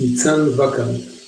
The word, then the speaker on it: Nitsan Wakart: Did I pronounce that correctly? No, but nobody does. That's okay. How should I pronounce it? It's Nitsan Wakart, but don't worry about it.